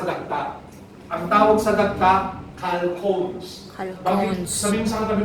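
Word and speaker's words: chalcones: Ang tawag sa dagta, calcones. Calcones. Sabihin mo sa katabi mo, calcones. Calcones. Ito po ha, calcones po ang tawag dyan. Calcones. Hindi po chalcone. Calcones. Yun ang tamang pronunciation, okay?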